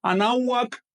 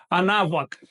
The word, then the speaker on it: Anáhuac: ven de esta palabra, que es así, anáhuac, anáhuac, no refleja realmente el sonido de la lengua. Con esto entramos ya en materia, el tema de las ortografías. Así que no es anáhuac, sino anáhuac.